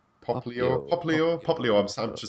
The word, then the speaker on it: Popplio: how do you spell Papilo? Popplio.